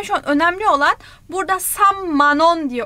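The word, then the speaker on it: 삼만 원: Samship chon ama böyle okunmuyor Korece'de. Sam manon diye okunuyor. Sam manon.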